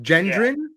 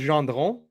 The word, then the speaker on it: Gendron: everybody pronounces it that way, Yeah. Gendron, or that's how but it's actually pronounced Gendron.